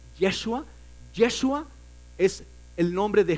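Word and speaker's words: ישוע: traducción de josué josué en el hebreo se dice joshua pero no se no se pronuncia el yo de modo que es yeshua yeshua es el nombre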